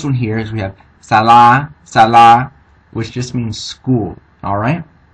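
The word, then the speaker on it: សាលា: So putting them together, the first syllable we know is going to be sa.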